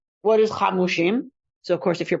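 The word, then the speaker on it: חמשים: The Vav is missing, but we pronounce it Hamushim.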